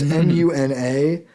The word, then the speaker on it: MUNA: I don't know how you pronounce it. It's Muna.